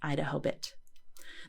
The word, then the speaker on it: IDAHOBIT: or Idaho for short today's expanded acronym can be pronounced as idahobit the founders chose May